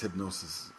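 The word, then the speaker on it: Hipgnosis: how to pronounce this h y PG n o i I think it's a strange spelling and it's meant to be artistic I guess uh but I think it's hypnosis is is the actual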